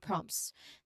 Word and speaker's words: prompts: Okay, with the T in parenthesis because as N explains the T is often elided or dropped in natural speech. So while the full deliberate pronunciation would be prompt, right? Many speakers will simplify it to some prompts. So this is very common reduction.